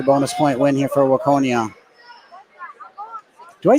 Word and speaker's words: Waconia: to be another bonus Point win here for Waconia do I say it right Waconia yeah I've lived here for a couple of